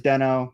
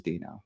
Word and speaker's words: Deno: in there talking about you know whether the pronunciation is Deno or Dino originally it was Deno then later the company changed it to Doo officially so it is Dino so all right so now we off bun